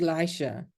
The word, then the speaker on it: Elisha: Now, I called you Elisha. Is that how it's pronounced? That is correct.